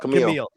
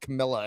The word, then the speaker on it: Camille: We talked briefly last week about how like Camille, which one is it? Camille or Camilla? Camille. Okay, because one of the podcasters pronounced it Camilla, and it always screws me up.